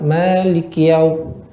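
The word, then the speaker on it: مَالِكِ يَوْمِ: Malikiyau, ya. Sempurnakan k-nya. Maliki, malikiyau, ya. Maliki, ya. Artinya sendiri maliki, yang memiliki yaumiddin. Kalau kita sama malikiyau, Maliki, seolah kiau gitu bacanya.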